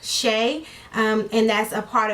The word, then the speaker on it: Chae: princess Shea so uh c-h-a-e is pronounced Shea um and that's a